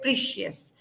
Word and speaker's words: precious: You said it pre because we say preplex or previous, so that's why you said precious. But it is Okay. precious. Pra is Yes. given stress here.